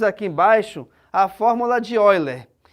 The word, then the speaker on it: Euler: embaixo a fórmula de oiler embora a gente consiga ler Euler mas o nome é pronúncia é olha certo a fórmula de